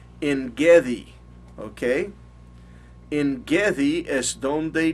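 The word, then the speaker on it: Ein Gedi: Ahora, en Gadi, modernamente los judíos lo pronuncian en Gedi, ¿ok?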